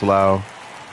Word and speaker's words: Lowe: Some say Lowe, some say Lau, but I think his is pronounced Lau.